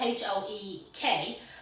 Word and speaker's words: Hoek: And the wholesalers that we actually went over to, well, I always called it Hoek because it was H-O-E-K, but seemingly the Dutch way of pronouncing it is Hoek. Now, not just Hook, Hoek.